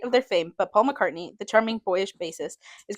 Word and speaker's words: McCartney: McCarthy. McCartney.